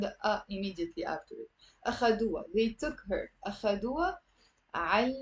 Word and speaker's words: أخدوها: And that ha in the Lebanese dialect, you don't have to pronounce it. It's mostly silent.